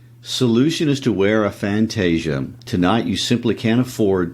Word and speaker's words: fantasia: is to wear and the word is pronounced fantasia in portuguese that's their portuguese word